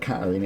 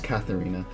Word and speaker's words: Catherina: Catherina I thought Cather I've been saying the name wrong Catherina it's not Karina it's Catherina I thought Catherina dropped out